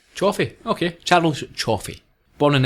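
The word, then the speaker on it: Cioffi: Before we move on to that scene, Sidney Ritter was played by Charles Now, how would you pronounce that, Ian? C I O double F I Chioffi. Chioffi.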